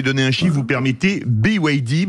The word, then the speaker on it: BYD: un chif vous permettez BYD parce qu'on le prononce à l'anglaise qui a vendu 5000